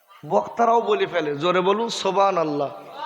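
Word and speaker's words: سبحان الله: জোরে বলুন সুবহানাল্লাহ। সুবহানাল্লাহ আসলের উচ্চারণটা ঠিক হচ্ছে বলে মনে হচ্ছে, বক্তারাও বলে ফেলে জোরে বলুন সুবহানাল্লাহ। এটা সম্পূর্ণ ভুল।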